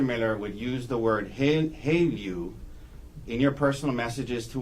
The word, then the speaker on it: HALEU: Haleu. Haleu.